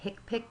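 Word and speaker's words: HCPCS: they're printed in uh the book is called the hipic book and that's spelled h CP Cs and that's where you'll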